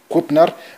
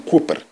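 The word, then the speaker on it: Kooper: war of national resistance i said simon krupner but his name is simon cooper his surname his name is simon his name is cooper captain simon cooper who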